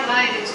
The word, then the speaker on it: Lineage: Por um professor que falou, não, isso aí vem de linhagem, é a Lineage que fala.